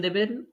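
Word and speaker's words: the: ওকে কি নিয়ে ইনফরমেশন দেবেন that is about দি eligibility criteria about দি eligibility ওকে যেহেতু এ আই ও ইউ আছে তাহলে আমরা দ এর উচ্চারণটাকে দি এর মত করে উচ্চারণ করব তাহলে আমরা বলব কুড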